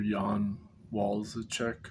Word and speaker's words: Jan Walleczek: Okay, I wanted to mention this other researcher, Jan Walleczek, I think is how his last name is pronounced, but he was recommended by Basil J.